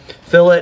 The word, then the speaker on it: fillet: It looks like fillet. Some people question that, but in the boat world, that's pronounced fillet.